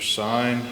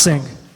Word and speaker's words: Singh: bringing everybody in mr sein 102 oak park terrace which is pronounced um it's pronounced sing oh sorry no it's okay um my name is singh i live in wappingers